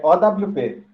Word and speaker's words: OWP: É OWP, as OWP. letras mesmo.